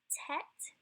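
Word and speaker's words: טית: Tet has a T sound like 10.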